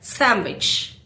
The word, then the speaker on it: sandwich: Most people clearly pronounce every letter, but naturally it sounds like sandwich.